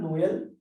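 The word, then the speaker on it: Noël: letters separately to emphasize on this letter and pronounce them separately we use this rule trema example are Noel Noel is Christmas and mice mice is called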